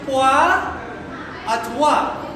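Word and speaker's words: pour autrui: Ang hirap i-pronounce but it is a stipulation pour at wa. Ano yun? Pour at war.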